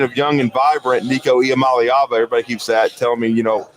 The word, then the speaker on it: Iamaleava: Iamaleava, Nico Iamaleava.